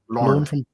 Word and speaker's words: Lorne: I remember Bonanza, Lauren from, how do you pronounce that? Is it Lorne? Lorne.